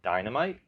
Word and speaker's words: Dienamite: If you're familiar at all with the title Dienamite, spelled like die, D-I-E, Namite.